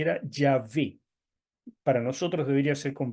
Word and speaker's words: Yahvé: Hebraístas antiguos alemanes dijeron que el nombre se pronunciaba Yahvé y así lo mantienen hasta hoy y lo mantengo yo también porque es lo que creo.